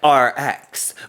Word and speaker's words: ARIIX: my series on rx the company that sounds like rx but it's spelled a-r-i-i-x you okay like all